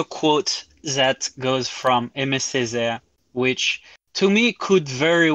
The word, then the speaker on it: Aimé Césaire: Oh, Aimé Césaire. So it's spelled Yeah.